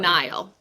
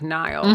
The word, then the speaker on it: Niall: Niall. Like Niall.